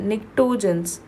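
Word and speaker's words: pnictogens: Chalco, before that, nitrogens, P is silent.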